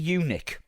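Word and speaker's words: Yunick: Smokey unic. Who? Henry. Henry Smokey Unic. I wish I wish it just said unic. It's spelled Y U N I C K. Look at how it's spelled.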